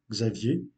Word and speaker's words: Xavier: que vous l'avez compris, Xavier. Mais en portugais, ce nom se prononce Xavier.